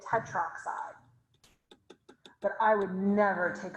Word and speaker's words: tetroxide: is four tetra but we don't put the a because putting an a and an o next to each other it's really hard to pronounce so we just say it tetroxide but i would never